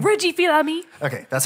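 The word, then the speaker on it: Fils-Aimé: Reggie Fils-Aimi.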